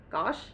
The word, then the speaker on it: gauche: She wore a silhouette of clothes that were extraordinarily extraordinary but somewhat gosh.